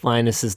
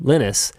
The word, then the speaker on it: Linus: called me Linus because in French, that is how those letters in that order are pronounced.